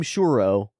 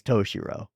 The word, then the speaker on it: Toshiro: So we all call him Shurro, but that's not his name. We just can't say his name properly. His name is Toshiro.